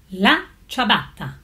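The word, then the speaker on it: la ciabatta: you must taste it the famous Italian chabata correctly pronounced as la chabata this flat white bread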